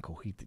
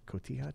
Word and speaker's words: cotija: I this week am going to do the pork chorizo tacos with radishes, roasted potatoes, and cojita cheese. Nice. Great pronunciation. Cotija cheese?